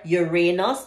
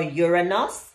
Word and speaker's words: Uranus: for Saturn, U for Uranus or Uranus, it's pronounced differently. I say Uranus, you might say Uranus, and N for Neptune.